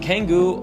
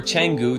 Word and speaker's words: Canggu: Now, number 2 on the list is a place called Canggu, and Canggu, or Canggu, depending on how you want to pronounce it, is definitely one of my most favorite developed areas in Bali.